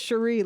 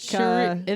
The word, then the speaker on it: Cherie: it's actually pronounced Cherie, like Cherie.